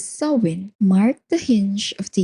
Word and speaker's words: Samhain: For the Kelts, so spelled as s a m h a i n but pronounced as soin, marked the hinge of